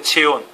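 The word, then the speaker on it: Xeon: 제온 XON XON 제온이라고 읽어요.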